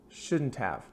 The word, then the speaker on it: shouldn't have: Couldn't, shouldn't, couldn't have, shouldn't have. And it's interesting because when I say this in American English quickly, I almost sound like I'm saying the letters UV, like of or couldn't have.